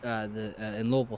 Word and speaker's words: Louisville: if you're from there, you say it like it's in the back of your throat.